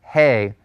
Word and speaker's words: He: of the Hebrew alphabet is pronounced hey like the hey a horse eats and it's the H